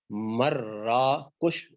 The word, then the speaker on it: مراکش: عام طور پر مراکش کہا جاتا ہے، صحیح تلفظ ہے اس کا مراکش، صحیح تلفظ ہے.